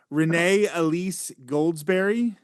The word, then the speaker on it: Renee Elise Goldsberry: And I'm going to try the pronunciation. I'm going to try Renee Elise Goldsberry.